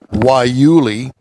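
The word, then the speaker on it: guayule: a rubber made from guy Yul pronounced why Yuli a woody shrub found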